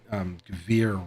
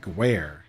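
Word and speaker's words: Gewehr: It's a Gvir, is how you pronounce it. I think is Gvir, and I always called it Gware.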